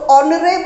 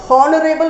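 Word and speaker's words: honorable: कैसा आ रहा है एच से साउंड नहीं आया बिकॉज एच आपका साइलेंट है साउंड आपका ओ लेटर से आया है और शुरुआत होती है ओ से तो नरेल साउंड आ रहा है नरेल इट्स नॉट हॉनरेबल नहीं बोलेंगे इसको नरेल बोलेंगे तो साउंड ओ से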